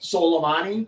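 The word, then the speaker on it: Soleimani: say his name how do you say it solomani okay yes that I like salami better I'm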